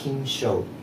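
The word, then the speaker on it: 金将: På japanska uttalas det “kin-shou” eller “kin”.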